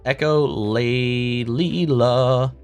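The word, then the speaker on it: echolalia: It's pronounced echolleia.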